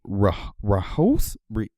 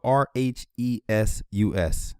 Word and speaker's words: Rhesus: So this is a Rahos. Dang. What? It's spelled RHESUS. Never good at pronunciation.